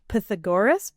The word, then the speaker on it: Pythagoras: So apparently Pythagoras, or actually his name is pronounced Pythagoras. Pythagoras. But I'm not going to say it like that.